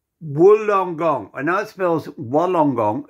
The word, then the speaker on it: Wollongong: I know it spells Wollongong. It's pronounced wool, like bah, sheep.